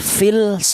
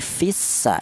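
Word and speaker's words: في السماء: ini alusan samsama ya lam matinya ini tidak diperlihatkan yaitu alias dilebur ee ke huruf sin itu namanya idgham jadi cara bacanya lamnya tidak kelihatan langsung menyatu ke huruf sin itu namanya idgham cara bacanya fissa tidak boleh fils tidak boleh tapi fissa idgham Kemudian kita lanjut di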